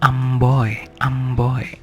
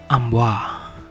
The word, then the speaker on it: amboi: And then amboy, and French people pronounce ambois, but it's not ambois, it's amboy, oi.